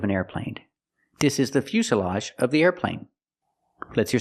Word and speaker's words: fuselage: airplane it's called a fuselage pronunciation make the u sound u f Fus Fus the S is a true S Plus the short sound uh Fus fuselage this is